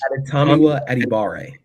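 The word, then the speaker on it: Adetomiwa Adebawore: your article you phonetically for us dummies, you phonetically spelled out Adetomiwa Adibara. Did I get it close at least? Adetomiwa Adibare.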